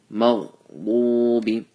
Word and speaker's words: مغضوب: And mag, some people when they say this, they say magha, they bounce the ghain. That's wrong. So make sure you don't bounce on the ghain. Maghdubi, full mouth.